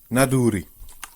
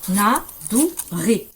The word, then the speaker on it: Naduri: Oui, Naduri. N-A-D-O-U-R espagnol. Ah. Naduri. Naduri. Donc c'est pas la R donc c'est pas la R espagnole. N-A-D-O-U-R-I. C'est le re français.